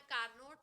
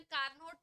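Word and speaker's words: Carnot: पढ़ेंगे एक इंजन पढ़ेंगे, लिखते हैं कार्नोट और प्रोनाउंस करते हैं कार्नो। पढ़ लिया है? थर्मोडायनेमिक्स नहीं पढ़ा अभी? चलो अच्छा। क्या पढ़ेंगे? कार्नोट इंजन, कार्नोट नहीं बोलते हैं, क्या पढ़ते हैं? कार्नो।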